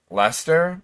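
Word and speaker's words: Leicester: Um, Lester is how it's pronounced.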